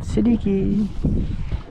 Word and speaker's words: Siddiqui: Siddiqui. That is how you say that one. Siddiqui.